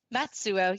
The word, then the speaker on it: Matsuo: So anyway, we are joined today by Matsuo. Did I pronounce that right? Matsuo. Yeah, you're close. Matsuo.